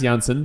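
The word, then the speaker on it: Jansen: the way it's Jay it's pronounced Janssen but he's it's j-a-n uh Janssen plays for the sun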